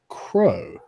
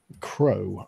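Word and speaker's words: Crogh: for a man called crow crow I guess you'd pronounce it is CR o G H okay he is a renowned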